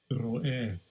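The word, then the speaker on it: רֹאֶה: Ro'eh. Ro'eh. Right, that's how it's pronounced, but there you have it there, simple and plain.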